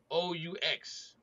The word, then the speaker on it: Rioux: Ryrix, RIOUX, It sounds like Rio to me. I'm not an English major by Rio. any means It's necessary. French. It's French. It's pronounced Yeah, it's like French.